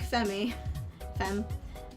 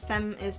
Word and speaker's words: Fem: Fem is pronounced fem, thank you. My brain has always said it Femi, because I don't know where I learned my pronunciation of English, but it's pretty bad mentally.